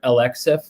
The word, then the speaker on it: Alexeeff: If you said the letters L, X, and then F together, Alexeeff, that's how you say it.